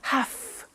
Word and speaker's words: have: i have to notice i don't say v i say f have half it becomes have to have the two becomes in pronunciation have to have to okay so i have to